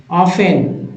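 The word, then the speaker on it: often: देखिए यहां जो है टी साइलेंट कर देते हैं और एफ के साथ पढ़ेंगे ऑफेन यहां भी जो है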